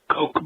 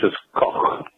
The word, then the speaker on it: Koch: to make one correction um if you uh pronounce the Coke brothers the $1 billion for the Coke brothers